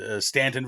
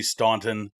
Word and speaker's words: Staunton: Stanton, Virginia looks like it should be Staunton, things of that nature.